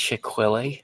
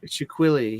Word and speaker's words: Shaquille: I think it's pronounced Shequele. Shaquille. Yes. Shaquille.